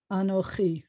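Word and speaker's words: אָנֹכִי: Anochi. I hope everybody's seeing it. The accent's here. You can tell because that's where the trope mark is.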